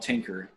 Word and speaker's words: Tynker: In this workshop, we'll be using a website called Tinker. It's spelled Tynker.